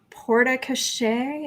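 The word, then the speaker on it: porte-cochère: So we have a question about building a porta cachet. Is that how you pronounce that, Eric?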